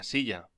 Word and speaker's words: silla: Una silla. Pronúnciese silla.